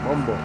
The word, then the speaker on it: Bumbo: You should say Bumbo. It's like that, Bumbo. I like Tay saying Bumbo. It's a short O at the end.